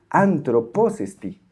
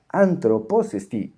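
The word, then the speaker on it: ἄνθρωπός ἐστι: Y esto se pronuncia así: antroposesti, antroposesti. Noten que estoy haciendo doble acento en la palabra antropos.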